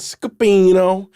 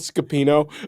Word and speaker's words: Scapino: I did a Commedia dell'arte play called Scapino, and then What was it called? I shouldn't say it like that. It was called Scapino. Scapino.